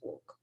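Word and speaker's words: WOC: and philanthropy which is they um pronounce it as woke uh my boyfriend is that he's like walk i'm like it's woke that's what w.o.c um so i came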